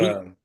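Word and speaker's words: Etienne: You're talking about ETN?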